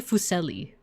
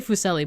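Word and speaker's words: Fuseli: This is painted by Henry Fucelli. I keep wanting to say Fucelli, but the the pronunciation says it's like zel because it's like German.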